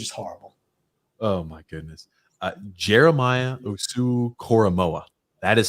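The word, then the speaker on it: Jeremiah Owusu-Koramoah: are hideous it's is horrible oh my goodness Jeremiah USU koroa that is how you pronounce his name I knew it messed it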